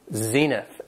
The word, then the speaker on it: zenith: Has two syllables and the stress is on the first syllable, zenith.